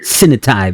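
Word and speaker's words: Sinotai: Sinitai, that's how you pronounce One of their that.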